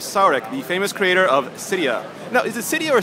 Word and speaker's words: Cydia: and we're with Sark the famous creator of Cydia no is it cyia or cidia what do you prefer uh it's a Cydia Cydia okay excellent that's like the burning question that